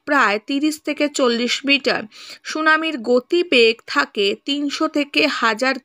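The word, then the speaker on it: tsunami: সুনামি যদি টিকা হিসাবে আসে বা প্রশ্ন হিসাবে আসে, লিখব অর্থ, সুনামির অর্থ কি? না, জাপানি শব্দ এটা সুনামি, এখানে টি কিন্তু সাইলেন্ট, অর্থাৎ টি এর কিন্তু উচ্চারণ হবে না, ওকে।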